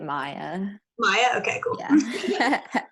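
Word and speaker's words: Maia: M-A-I-A. Is it me? You say it Maya.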